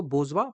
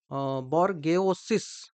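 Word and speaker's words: bourgeois: ही पढ़ा जाता है तो प्रोनंसिएशन आपको ध्यान रखना है इसको बजवा पढ़ा जाता है नॉट बोर्गेस बोर्गेस बोर्गो इस ऐसे तो पढ़े होंगे बर्गस बर्ग इस लेकिन इसको पढ़ा जाता है बजवा ठीक है इसको पढ़ा जाता है बजवा ठीक है तो यह इसका प्रोनंसिएशन होता है इसका मतलब होता है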